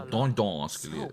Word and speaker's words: Dordogne: Wird also Dordogne ausgesprochen.